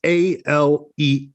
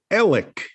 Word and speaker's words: Alex: that for whatever reason in that part of the south carolina low country the way you pronounce a-l-e-x is ellick ellick not alex but